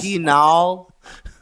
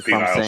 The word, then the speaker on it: penal: My wife likes penile. Just get off of that. No, I'm trying to say it right. Am I? Penal. Let's go. All on the end, not an aisle.